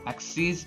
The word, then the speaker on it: axes: Axes is the plural of axis, and we spell them the same, but we pronounce it axes so that we can separate both of them.